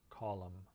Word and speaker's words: column: other letters in english sometimes n can just be silent like in the word column okay so the lowercase